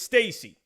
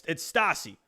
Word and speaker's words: Stassi: Is it Stassi or is it Stacy? I'm gonna lose my mind. I think it's Stacy. It's Stacy. No, it's Stassi. It's Stassi. Stassi, right there. Right? Is that Stassi?